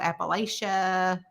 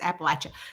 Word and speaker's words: Appalachia: um there was um which is Apple at you right Amanda like they're throwing an Apple at you that's how you say it um because I think a lot of people call it Appalachia Apple I don't know